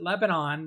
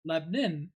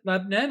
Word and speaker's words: Lebanon: pronounce this town most the people want to pronounce it Lebanon that are moving here and when I first moved to Nashville I was pronouncing it Lebanon and then someone told me it's lebin so prounce it Lebon and then they won't think you're not from